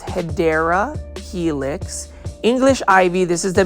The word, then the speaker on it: Hedera helix: This is a Hydra helix. This one is, the correct way to say it is Hedera helix.